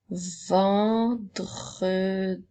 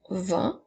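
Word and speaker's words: vent: mot le et ensuite le mot vend sans oublier la lettre muette à la fin maintenant nous avons le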